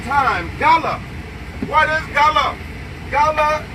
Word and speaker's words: Gullah: Gullah, the proper way to pronounce Gullah is the law.